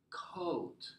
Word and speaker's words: caught: I caught. Caught. Mm-hmm. It rhymes with bought. Like buy, past tense is bought. Catch, past tense is caught. So both of them are ought.